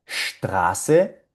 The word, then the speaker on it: Straße: Estas palabritas van a sonar Straße, Starten, Stuhl.